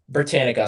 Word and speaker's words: Britannica: So, um, so apparently like this Brit Britana, uh, Encyclopedia Britain, um, Britannica, sorry, I'm saying it wrong.